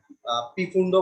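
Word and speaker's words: Pfund: Number person, bracket, আর ফুন্ড বলে, পিফুন্ড বলে, একজন এক এক উচ্চারণ করে, পিফুন্ড উচ্চারণ না আসলে ফুন্ড বলে।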